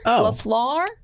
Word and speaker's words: Matt LaFleur: LaFleur? That's correct. Gavin's like, I concur. Which part is correct? I pronounced his name right?